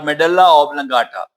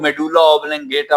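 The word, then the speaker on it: medulla oblongata: Parts, cerebellum, Pond's और मेडुल्ला ऑब्लंगाटा। इसको कुछ लोग मेडुल्ला ऑब्लंगेटा पढ़ते हैं, वो गलत है। इसकी प्रोनाउंसिएशन है मेडुल्ला ऑब्लंगाटा।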